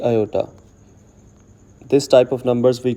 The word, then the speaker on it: iota: Whatever number that is with iota sign this symbol i or iota we shall call it imaginary part and here i is pronounced as iota and its value is